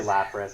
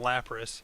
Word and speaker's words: Lapras: I still don't know how to pronounce that 20 years I say later. Lapras. I Okay. think it's Lapras.